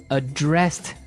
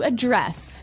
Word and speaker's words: address: address has the the stress on the second syllable okay address yes and